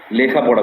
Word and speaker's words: লেখাপড়া: Actually উচ্চারণটা লিখা। আমরা কিন্তু লিখি। লেখি না। লিখি। উচ্চারণটা হবে লিখা পড়া।